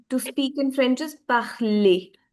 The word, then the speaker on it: parler: There is no r sound in the end.